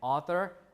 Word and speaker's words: author: not only in spelling we also pronounce the th right when we pronounce the word throne we stick the tongue out the Theta sound Anthem also author also right so this affect both